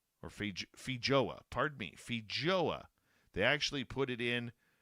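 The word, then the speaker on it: feijoa: spin the FYOA or Fij Fija, pardon me, Fija, they actually put it in uh to break it down, how to pronounce it, Fija into a global brand as growers have done with apples and kiwi.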